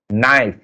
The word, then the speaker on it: knife: Knife. You can see that K is silent.